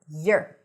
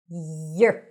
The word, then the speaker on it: your: And how is it pronounced? Your. Is this your bag? Is this Yer. Yer.